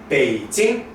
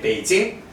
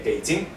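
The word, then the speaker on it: 北京: 예, 베이징, 예, 베이징. 예, 사실 다시 말씀드리지만 성조는 글자 하나하나 외우는 게 아니고 발음해보고 이렇게 고치기도 합니다. 중국 사람들도 마찬가지예요. 베이징, 예, 삼성 일성이구나 라는 거고요.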